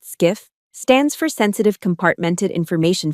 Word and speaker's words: SCIF: SCIF, pronounced skiff, stands for Sensitive Compartmented Information Facility.